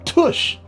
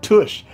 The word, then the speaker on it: TUCCH: got a case here by tush that's how you kind of pronounce it tush take the world all